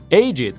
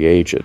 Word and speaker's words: aged: У некоторых прилагательных ed читается как id, но если это глаголы, соблюдаем известные правила произношения. Есть мнение, что нужно пробежаться по списку. Aged – престарелый. For the aged. Но выдержанный – таки aged.